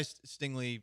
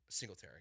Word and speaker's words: Singletary: What do you mean by Stingley? Not Stingley. Singletary. Singletary. Gotcha. Okay. Bad brain day. So I was like, why does he understand? And I was like, duh, no, I'm saying the name wrong.